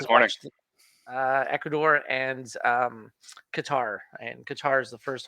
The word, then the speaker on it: Qatar: It's not pronounced Qatar. It's pronounced Qatar.